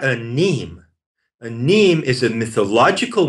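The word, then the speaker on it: mneme: A neme is spelled M-N-E-M-E. A neme. It's pronounced neme.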